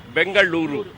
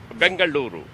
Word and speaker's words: Bengaluru: I say bang bangaluru that the the correct pronunciation is bangaluru Bengaluru that is the correct pronunciation so when we